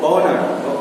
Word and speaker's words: honour: तो ये word consonant से शुरू तो होता है, लेकिन जब हम लोग कहते हैं, जब हम लोग प्रोनाउंस करते हैं, प्रोनाउंसिएशन जब करते हैं, तो एच साइलेंट हो जाएगा, ठीक है।